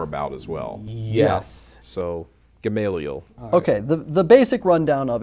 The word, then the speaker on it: Gamaliel: We had a little question on how you actually pronounce it, but how did we decide? Gamaliel is... Gamaliel.